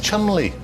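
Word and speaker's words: Cholmondeley: but it might so Richard Chumley CH is that how you pronounce it yes Chumley trust me on this say chandle yes he didn't pronounce it like that don't ask why he pronounce it CH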